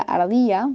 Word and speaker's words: Ardija: mascota es una ardilla se llama omilla ardilla se pronuncia así y la canción que tienen la pueden buscar como vamos ardija con j canción de cancha de